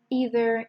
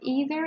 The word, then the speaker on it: either: for either and neither there are actually two different pronunciations that break the British English and the American English so you can pronounce it as in either neither or as an eye either neither both of the marks